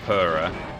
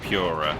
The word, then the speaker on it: Pura: Ghost Ship always pronounced it like Purra. Yeah. I pronounce it like the cat one. Yeah. I think maybe most people don't pronounce it Pura, but when I say people do, what I mean is Ben does.